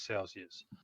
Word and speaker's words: Celsius: A little heavy on that final syllable. Us versus is. Sycamore always asks me about this, but personally, again, I would probably use like more of a short I, Celsius.